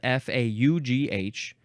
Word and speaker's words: faugh: It does say, it is often read as faugh. The word is spelled F-A-U-G-H, but it also says,